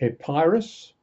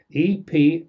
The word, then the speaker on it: Epirus: He lived in a country called Epirus, E-P-I-R-U-S, Epirus.